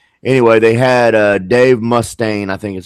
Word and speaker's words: Mustaine: the new lineup anyway they had uh Dave Mustaine I think is how you pronounce his name in the band at one